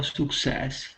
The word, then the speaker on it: success: Okay, in most cases, the letter U that you see in English will not be pronounced as oo. Okay, so this is success.